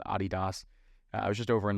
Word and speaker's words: Adidas: or I was called Adidas. I was just over in London, and they say Adidas. That is the correct pronunciation.